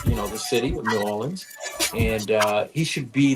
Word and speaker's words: New Orleans: the super place in newans newans how they say it they don't pronounce the r we do New Orleans uh but in nans